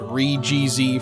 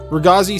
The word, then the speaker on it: Re-GZ: called the regazi yeah I pronounced it re-gz forever until I saw the dub rugazi sounds really weird to me but whatever it's based